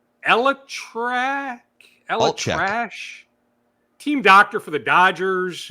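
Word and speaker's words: ElAttrache: Elatrash, yeah.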